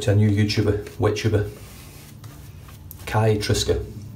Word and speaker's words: Kai: a new YouTuber, WetTuber, Kai Triska. Pronounced spelled fuck's sake man, sorry. Pronounced Kai, like the blades, K-A-I, and Triska, which in phonetic alphabet is Tango, Romeo, India, Sierra, Kilo, Alpha.